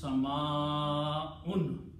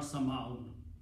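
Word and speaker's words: سَمَاءٌ: So if we are trying to read the Quran correctly, we should pronounce Sama'un, not Sama'un, okay? Because of the combination of Hamza and Alif in this case.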